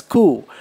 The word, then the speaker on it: coup: then he has given the pronunciation for coup pronounced as coup a sudden change of